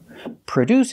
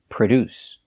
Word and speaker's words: produce: or manufacture products pronunciation produce we put the stress on the second syllable produce produce the first syllable is pronounced with a relaxed uh sound like cup and up produce produces a verb